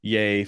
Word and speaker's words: Joseph: Joseph Fiennes, but it's pronounced Yay Fiennes.